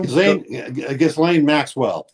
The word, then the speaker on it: Ghislaine: Oh, Ghislaine, how do you pronounce her name? Does anybody know? Ghislaine Maxwell.